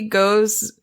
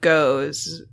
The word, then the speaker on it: Gose: I think they think that Goza is pronounced gose.